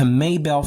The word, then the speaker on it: Mabel: Now imagine living in Austin, Texas, being harassed for 5 years, and then you drive from Austin, Texas to Maybell, Florida. Just type up, it's spelled Mabel.